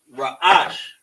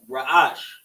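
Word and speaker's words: ראש: So, head ra'ash. So, we got the ra, the a, the sha. And the same with that, ra'ash.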